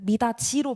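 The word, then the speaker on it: 미닫이: 이게 뭐 마디까지 되면은 13항이 많은데 마지 이건 구개마라고 뭐 우리가 구지할 때 구지 미다지 할 때 미다지로 발음하잖아요. 디귿을 지으로 그거 되지 않냐 이거예요.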